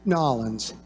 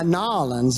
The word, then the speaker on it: New Orleans: first of all how many of you Benton nollans see ya and now you know how to say it right yeah nollans nollans you got a draw sir